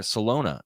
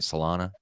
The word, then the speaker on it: Solana: market and that's where salona or salana uh am i pronouncing that right solana yeah they just had again